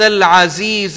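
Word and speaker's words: العزيز: یہاں پر عزیز عین کو انڈر لائن کریں گے, حکیم ہا کو انڈر لائن کریں گے, نہ عزیز ہے اور نہ حکیم ہے, ہم نے یہ تلفظ ٹھیک کرنا ہے.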